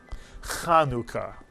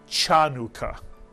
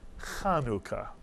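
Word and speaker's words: חנוכה: person doesn't know Hebrew there's no cha sound in Hebrew and this word is not pronounced chanuka but rather kanuka and this word is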